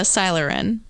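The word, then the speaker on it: Sylarin: that everything works out but yeah it's uh silerin spell it s-y-l-a-r-i-n you know when we're what does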